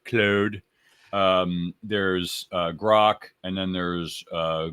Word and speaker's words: Claude: There's the main GPTs, there's Chat GPT, there's Claude or Cloud, depending on if you're French or not. I know I'm not pronouncing it right. Claude.